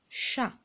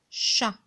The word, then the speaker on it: chat: voyelle à chat alors chat le thé le thé c'est écrit je suis mais ne prononce pas d'accord chat quand vous voyez le t on l'écrit mais on le prononce pas donc là on va